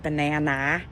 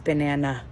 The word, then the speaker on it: banana: a says ass so it's not banana it's banana and then it just gives